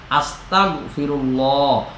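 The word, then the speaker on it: أستغفر الله: যাবে না আস্তাগফিরুল্লাহ হামজা জবর তাইন জবর তা আস্তাগফিরুল্লাহ এইযেটা আমরা বাংলাতে গ বলি গ্যা যেটাকে আমরা বলি সরাইয়া স আপনার দন্ত স আস্তা ততা গ আস্তাগ ঠিক আছে এভাবে আমরা উচ্চারণটা করব আস্তাগফিরুল্লাহ গনের মধ্যে উচ্চারণটা ধরে রাখা আপনারা যদি ধরেও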